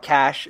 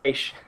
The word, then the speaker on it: Cache: It's not cash. It's Cache. Yeah, it's Cache. It's Cache. Yeah. It's Cache, not cash.